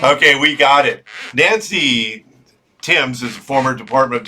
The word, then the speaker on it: Thames: and we have Nancy Thames did I I pronounce that correctly Nancy it's Tims like the Tims River Tims I knew I